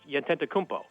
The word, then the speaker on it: Antetokounmpo: It's really, I mean, as crazy a name as it is, it's not that hard to say. It's phonetically pronounced, Antetokounmpo. I mean, so you read it and you say it like that, Antetokounmpo.